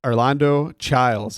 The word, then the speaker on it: Arlando Chiles: right so I'm sitting here and I've got Orlando child on that's your name right that's my name